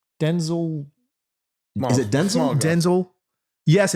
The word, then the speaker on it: Denzel: and he explained it's pronounced It's Denzel.